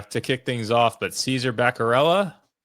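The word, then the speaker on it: Caesar Bacarella: So, this this first driver, I can't say his name uh to kick things off, but Caesar Berella, you got it right.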